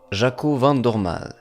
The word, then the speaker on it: Jaco Van Dormael: près de 17 secondes, il s'avère qu'on prononcerait plutôt Jaco Van Dorm.